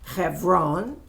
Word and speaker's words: Hebron: In Hebron, or how you might pronounce it, Hebron, Hebron, but it's really Hebron.